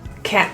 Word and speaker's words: can't: That way you know it's likely the word can't rather than can.